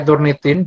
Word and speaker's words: Turnitin: Tapi bacanya jadi turn it in ya ini ya harusnya.